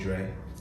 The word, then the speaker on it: Drae: and i'm growing up everybody calling me dre for sure but it's spelled a and dr ae my late cousin best